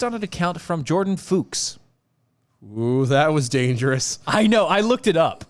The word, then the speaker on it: Fuchs: story was based on an account from jordan fuchs that was dangerous i know i looked it